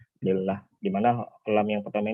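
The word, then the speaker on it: لله: Dan hamzah atau alifnya dihilangkannya, maka di sini kita baca bukan Allah, apa lillah, di mana lam yang pertama ini adalah huruf jar.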